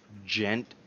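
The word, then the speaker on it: Djent: it is time for Ghent June kinda the D is silent so in case you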